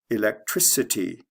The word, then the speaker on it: electricity: change the spelling but it goes from a hard c electric to a soft c electricity like from a k to an s sound let's look at the